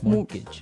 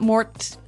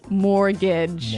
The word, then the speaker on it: mortgage: with a t yeah it has a t in it but you don't pronounce it you say mortgage morgage so not Mort mortgage not mortgage morgage mortgage yeah I had